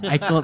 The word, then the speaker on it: IECLOP: Icelop bukan ya? iClub bang, iClub.